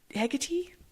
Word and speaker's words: Hecate: me think of another name I've only ever pronounced in my brain, Hecate.